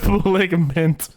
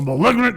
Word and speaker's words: malignant: but I okay no I mispronounced that too I said maligant like putting a mint on it oh all right doing I'm to do is liver I think yeah a malignant tuner perhaps in other